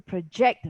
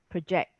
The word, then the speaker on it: project: Yeah, so I need to project my voice, for example, project. So it drops to a schwa again, pr, becomes, instead of pro, it's project, project, right? So this project is to project the voice, for example.